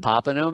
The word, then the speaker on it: Popenoe: Popenoe method, that's it. And There you go. I also have a singer's course, pronunciation for singers, because I am a singer and it's really fun.